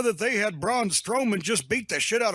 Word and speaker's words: Braun Strowman: I think you got it, Braun Strowman.